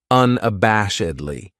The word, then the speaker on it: unabashedly: This adverb has 5 syllables, and the stress is on that third syllable, that bash, unabashedly. That second syllable has that schwa, that sound, unabashedly.